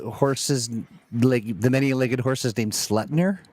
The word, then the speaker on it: Sleipnir: Sleipnir is an 8-legged horse, not a 9-legged horse. So it's I'm less sorry, the horses, the many-legged horses named Sleipnir? Sleipnir.